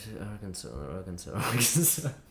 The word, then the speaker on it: Arkansas: You're supposed to pronounce it. Arkansas, dumb state.